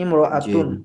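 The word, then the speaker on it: امرأة: এখানে আমাদের একটা কথা আছে যে ইমরাআতুন শব্দের আগে অন্য শব্দ হলে আলিফটি লেখায় আসে, উচ্চারণে আসে না, যেটা আমরা বলেছি। জি হিয়া জি ইমরাআতুন এমন ছিল, কিন্তু আমাদেরকে মিলিয়ে বলতে হবে হিয়া ইমরাআতুন। হিয়া ইমরাআতুন এভাবে না বলে হিয়া ইমরাআতুন বলতে হবে।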